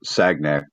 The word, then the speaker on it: Sagnac: fine the son effect it's sagnak but it's s s sounds cool but it's spelled segn we need to make